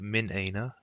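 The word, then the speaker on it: من أين: The one that doesn't, uh, like the one here, this one will always get pronounced. That is Hamzatul Qat. So you will always say Min Aina. You won't join this with the previous word.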